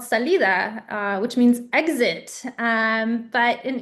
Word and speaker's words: Salida: And then they settled in this small town, which oddly enough, if you pronounce it correctly, it's called Salida, which means exit. But in English, for whatever reason, it's pronounced as Salida, but it's a very, very small little town off of the 99.